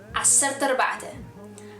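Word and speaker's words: ዓሰርተ ኣርባዕተ: But when you say it in a natural tone, it would be acerte arba'te. Acerte arba'te. So you kind of skip over the arba'te, the arba'te part. So you skip over the part and you just say arba. So you skip over the part again, the vowel, and you kind of merge the words at that place where the vowel is.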